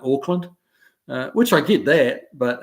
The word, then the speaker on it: Auckland: Now, Auckland, for those of you who don't know, that Auckland is spelled AUCK, so it's Auckland. And he thought he was boarding a plane to Oakland, which is OAK.